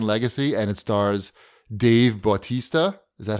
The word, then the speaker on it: Bautista: Z the man legacy and it stars Dave Bautista is that how you say his name uh-huh